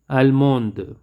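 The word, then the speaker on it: allemande: male 7 is almo almond here i don't pronounce the d and here i pronounce the d almo almond japan the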